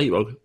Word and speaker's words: iVoox: Se pronuncia iVoox.